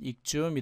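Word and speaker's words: exhume: 휴은 자 휴머 흘기라는 뜻이었기 때문에 말 그대로 X하고 휴하고 이제 부딪혀서 발음은 익주이 됩니다.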